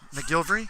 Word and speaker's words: McGillivray: first ball wants him McGillivray mcgilvery all right cool that's a tough one thanks to his uh mcgilvery's parents uh they've helped me out with pronunciation here so we're good there's a